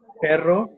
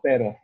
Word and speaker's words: pero: Because you can say perro instead of pero.